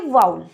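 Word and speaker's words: vowel: इसकी pronunciation वॉवल नहीं होती, इसकी प्रोनाउंसिएशन होती है वाउल, तो इस बात का भी आपको ध्यान रखना है.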